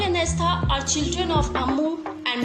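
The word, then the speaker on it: Estha: To pronounce Rahel and Astha, and for spellings is R-A-H-E-L, and Rahel and Astha, E-S-T-H-A.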